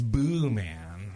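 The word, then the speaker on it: boeman: o w- m n she was like no no no no no it's it's boo man like Boo like a long like long o even though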